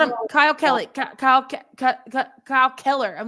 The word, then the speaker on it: Kyle Keller: How many times do you have to mispronounce our coach's name? They called him Kyle Kelly like 3 times. Yes. Like, you called him Kyle Kelly, Kyle Keller.